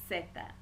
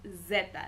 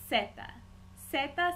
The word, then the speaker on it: zeta: and finally we have seta setha being the letter z please note seta does not sound like Zeta it does not sound like zipper seta sounding more like an s all of these